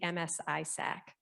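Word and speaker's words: MS-ISAC: who we are and even how to say it so it's six simple letters the msi sac and jamie went into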